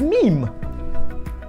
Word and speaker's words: meme: that what i said the correct pronunciation is meme i will not be